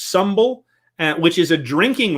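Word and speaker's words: symbel: into a Hrothgar's Hall and a ritual called humble or some it's it's spelled symbol but it's pronounced humble and which is a drinking ritual and this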